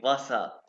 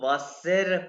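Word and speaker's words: Wasser: और ये वासा, अच्छा जर्मन लैंग्वेज इसको वासेर नहीं प्रोनाउंस है, वासेर नहीं, वासा, वासा, आर साइलेंट हो वासा जाएगा, वासा, एग्जैक्टली।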